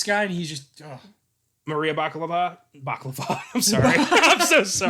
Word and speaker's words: Bakalova: It's Bakalova, I think. Bakalova, I believe is how you say it. It's not baklava.